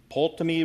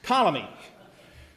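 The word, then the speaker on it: Ptolemy: Solus ruled Asia and pamy ruled over Egypt Palestine and Seria who oh the p is silent okay see not a history gu colomy let me just cross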